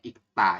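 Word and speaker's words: 읽다: Ini terakhir dibacanya ikta ya. Kenapa? Karena ada giok ketemu dengan diget. Jadi teman-teman nanti bacanya adalah ikta. Seperti itu ya.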